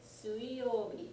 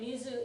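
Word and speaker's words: 水: elements in the Chinese system so water day sui notice that it's not Mobi okay Mizu is what they call the Kuni the Japanese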